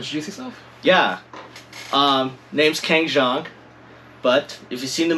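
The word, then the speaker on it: Keng Zhang: pronounce his name so my name is pronounced gangshong but i'm used to ken jeong too i've been a friend of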